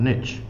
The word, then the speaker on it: niche: it rhymes better, but in America they say if you want to get rich, you find a niche, whereas niche doesn't quite work the same way. No, it doesn't. Niche and niche. Rhymes with snitch, but I'm not sure